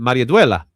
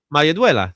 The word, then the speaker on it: Maridueña: Maria Duela.